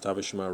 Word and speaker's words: Tavishima: Yes, Tavishima rhymes with Hiroshima.